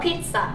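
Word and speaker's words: pizza: বলার কারণ আছে এইটা পিজ্জা না এটার সঠিক উচ্চারণটা হচ্ছে ফিজা কি বলছি এটাকে আমরা ফিটসা কি বলি ফিটসা বলো ফিট ফিট ফিটস ফিট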